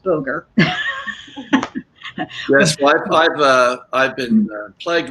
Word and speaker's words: Boger: So just everybody on the show, so you know, his last name is pronounced Boger.